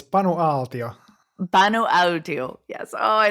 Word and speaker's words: Panu Aaltio: It's Panu Aaltio.